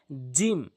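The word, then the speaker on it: جيم: হচ্ছে এরপরে আসুন জিম মনে রাখবেন জিম জিহ্বার মাঝখানের অংশটা জিহ্বার মাঝখানের অংশটা উপরের তালুর সঙ্গে লাগাবেন আমার কথাটি ভালো করে বুঝবেন জিহ্বার মাঝখানের অংশটা উপরের তালুর সঙ্গে লাগাবেন জিম জিম জিম এভাবে উচ্চারণ করবেন।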